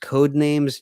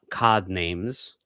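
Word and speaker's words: Codenames: It's actually pronounced code names, not COD names.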